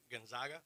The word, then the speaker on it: Gonzaga: and 13 number 11 Virginia 31-1 number 12 gonzal how you say it g Gonzaga Gonzaga yeah Gonzaga 26 and 11 uh number